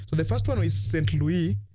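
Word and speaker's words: Saint-Louis: the first one is St Louis that is the right pronunciation in French Gori Daka and risk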